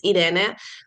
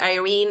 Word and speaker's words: Irene: So the Spanish pronunciation is Irene, but again, I've lived in so many different countries that I'm more than comfortable with Irene, or really any pronunciation whatsoever.